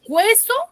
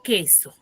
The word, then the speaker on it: queso: la u la u yo digo heso o digo queso queso ya entonces cuál es